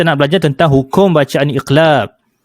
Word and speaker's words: iqlab: belajar tentang hukum bacaan iqlab. Sebutan dia ialah iqlab. Alif, qaf, lam alif, ba. Alif, qaf, lam alif, ba. Sebutan ni iqlab. Ataupun dalam ejaan Rumi bahasa Melayu, I, qaf, la, L, A, B.